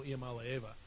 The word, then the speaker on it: Iamaleava: He's the one who came in on Nico Iamaleava.